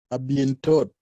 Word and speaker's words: à bientôt: The next one, À bientôt. à bien. À bientôt. À bien. Are you pronouncing letter T at the end?